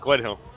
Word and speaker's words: Gledhill: with the lovely Jordan Gledhill. Have I pronounced that correctly, mate? Yep, Gledhill. I always think there's an N in there for some reason, like Glenhill.